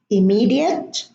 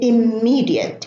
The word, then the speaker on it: immediate: immigrant emigrate and immigrant but some Arab students would say immediate immersion immense and this is wrong position as I said before because there is no germination in these words in English they should be pronounced with a light em immediate immersion immense but